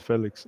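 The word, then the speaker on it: Félix: didn't hear except for Felix or Felix sorry now I know how to pronounce his name yeah I it's Felix apart from Felix I don't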